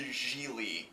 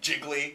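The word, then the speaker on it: Gigli: Some guy says, "What's up with you, Jiggly?" And he goes, It's pronounced Geely.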